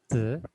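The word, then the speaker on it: 子: Ya, nah, baca zi itu gini aja. Habis mulutnya nutup, kamu tarik ke samping. Nanti zi, zi, zi. Karena dia nada ringan, maka kita suaranya juga ringan.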